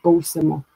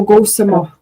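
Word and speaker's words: kawisimo: That first first short I is silent, so it'd be like gosimo instead of go. Do gosimo.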